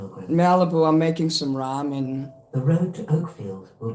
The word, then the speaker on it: ramen: Ramen. I was pronouncing it Raymond, but Dylan says it's not the right way to pronounce it.